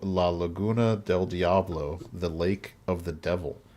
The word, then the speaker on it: Laguna del Diablo: You got to say it with the accent, Chad. Otherwise, you're going to pronounce it wrong.